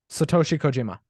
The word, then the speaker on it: Satoshi Kojima: Pronounce his name again, please. CM Punk versus. Satoshi Kojima.